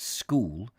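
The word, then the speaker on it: Scole: years ago the journey from skull which they pronounced school to Norwich must have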